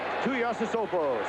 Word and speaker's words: Tuiasosopo: Manu Tuiasosopo, spelled backward, O-P-O-S-O-S-A-I-U-T, but pronounced the same way, right, Carl?